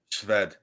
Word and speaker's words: Swed: yeah say it again sved that sped it's one of those uh uh slavic names where the w sounds like a like a v of something okay there